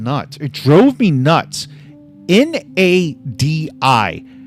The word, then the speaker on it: Nadi: N-A-D-I. How does any normal human pronounce N-A-D-I? Nadi.